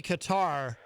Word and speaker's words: Qatar: I think it would be Qatar, which some people in the media pronounce Qatar, which I find strange.